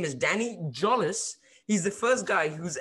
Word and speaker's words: Jolles: it's his name uh his name is danny jolis he's the first guy who's ever pronounced my name right what's up danny how